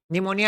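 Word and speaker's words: pneumonia: Silent हो जाता है, निमोनिया है तो पी साइलेंट हो जाता है, साइकोलॉजी में पी साइलेंट हो जाता है।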